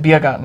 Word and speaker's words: Biergarten: that I pronounce it Biergarten and she pronounces it Beer Garden is because I was learning German for a while, so I know how it's pronounced in German.